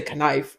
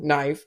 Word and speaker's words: knife: a lot of times the K is silent like you don't say kif or you don't say Cano yeah you say no knife so is the case